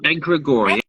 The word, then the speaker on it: egregore: Egregore? How do you say that word? Oh, egregore.